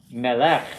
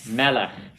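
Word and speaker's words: מלך: It's not melech, it's melech. Repeat after me, melech. Melech. Accent on the first syllable.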